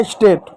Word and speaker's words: state: है एक कॉन्सोनेंट है, ई है तो ई साइलेंट होगा, ए का ए की मात्रा हुआ, टी का ट हो गया स्टेट, स्टेट मिस होता है राज्य, ठीक है।